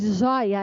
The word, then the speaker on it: joia: joia a palavra azóia a sílaba tônica de zoia é zoi zoi zoi de trás trás trem não tá na primeira está na segunda segunda sílaba tônica é também uma paroxítona